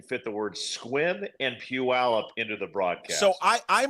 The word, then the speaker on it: Puyallup: I think Sherman's been shopping for suits in Puyallup." And so I was just like, "What? You're not getting that in Puyallup." No, I know. I'm like, first off, you nailed the pronunciation. Al Michaels knew Puyallup.